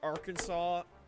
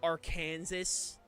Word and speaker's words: Arkansas: Oh, forever love how there's a law that says, "Oh, you can't pronounce AR like uh or Arkansas as our Kansas."